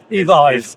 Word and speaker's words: Evyve: Evyve is how we pronounce like in it. Revive. Yeah, like revive, like drive.